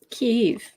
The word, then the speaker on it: Kyiv: But the right way to say it it's where you put the Y at the end of the first syllable or the beginning of the second. So it's actually here.